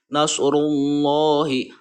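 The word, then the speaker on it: نَصْرُ اللَّهِ: Ini dibaca tafhim atau tebal. Tafhim adalah menebalkan bunyi huruf ketika diucapkan, maka penuhlah mulut oleh gemanya huruf. Nasrullahi, nasrullahi. Nah, seperti itu cara membaca lafadz Allah yang sebelumnya berharokat domah gitu ya. Ini dibacanya harus tebal.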